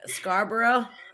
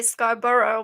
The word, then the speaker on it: Scarborough: place i think and i have to laugh at your pronunciation of scarborough what is it scarborough well you guys say scarborough but we say scarborough yeah we do we